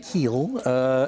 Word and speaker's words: kiln: It was created in a kiln, and I'm mispronouncing it. It's usually pronounced Kiel, and I should point out that J.C.